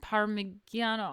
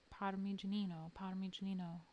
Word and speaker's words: Parmigianino: Parmigiano.